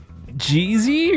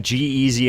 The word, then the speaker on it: G-Eazy: you say it but is it g-z or g-eazy g-eazy it's pronounced g-eazy and it was not